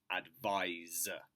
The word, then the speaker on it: advise: Okay, now advice versus advise. Advise. Pronunciation is with a Z sound, a Z sound.